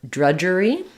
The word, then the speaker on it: drudgery: question about the word drudgery um so thinking about drudge um like you would think about judge um that we we have the um dge spelling just like we have an edge or judge that says the J